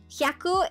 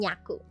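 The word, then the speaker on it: 百: Hyaku is you don't conjugate hyaku. It doesn't become yaku.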